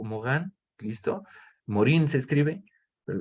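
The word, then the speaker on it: Morin: Entonces llegan otros señores ya, por ejemplo, como Edgar Morán o Mogán, ¿listo? Morín se escribe, pero se pronuncia Mogán, francés.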